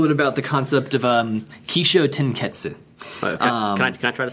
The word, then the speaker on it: Kishōtenketsu: But a lot of times in Japanese, when you have the SU at the end, the U is kind of like semi-silent, so it almost comes across more like Kishōtenketsu, kind of like desu. You know, it's not pronounced desu most of the time, it's just pronounced des.